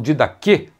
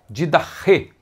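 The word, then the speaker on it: διδαχή: Alguns falam didache, uma pronúncia mais próxima do grego koine é didache.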